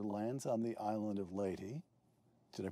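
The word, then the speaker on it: Leyte: On October 20th, 1944, General MacArthur lands on the island of Ley. Did I pronounce that correctly? Ley. Yes. Ley.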